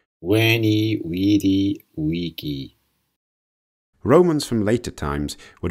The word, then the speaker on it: Veni, vidi, vici: The classical pronunciation is how it is believed Caesar himself would have pronounced the phrase, Veni, vidi, vici.